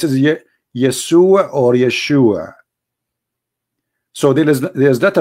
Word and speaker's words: Yeshua: pronounce the correct word the correct word in the Hebrew is Yeshua as simple as that so